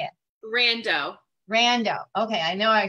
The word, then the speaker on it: Rando: Rando.